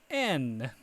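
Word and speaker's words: 円: And as funny as it sounds, even though we say Japanese yen, in Japanese it's pronounced N.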